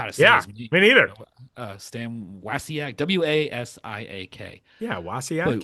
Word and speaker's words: Wasiak: Stan Wasiak w a s i a k.